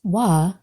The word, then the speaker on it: Waw: : Our third, and final letter today, is Waw. Pronounced "wah", this letter has some very relevant meanings to our...situation here.